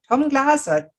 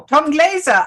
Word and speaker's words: Tom Glaser: Christine Sauer, your host, and I'm excited to have Tom Glaser. Oh, no, Tom Glaser. I'm That's sorry, I say it wrong. That's my German heritage. So, Tom Glaser on the call, and